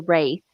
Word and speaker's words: Wraith: It's The Wraith, Abe. the Wraith. Yeah, Wraith. Okay. Great movie, even if I pronounced it wrong.